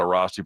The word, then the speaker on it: Airrosti: About 8 years ago, I staggered into an Arasti provider and didn't think there was an answer.